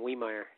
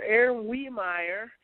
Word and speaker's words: Wiemeier: oh close it's a big old German name weer we the eye is silent in German so all right well okay Mr Aaron weer and Aon and I have been trying to